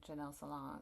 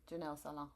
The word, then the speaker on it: Janelle Salaün: And then 2, because one, the first thing we learned was that people are saying Janelle Salaün. Yeah. I said it wrong. Janelle Salaün. Yeah. Very good.